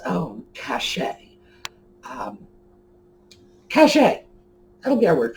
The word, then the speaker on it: cachet: Oh, cachet is spelled C-A-C-H-E-T. It's a French pronunciation, cachet.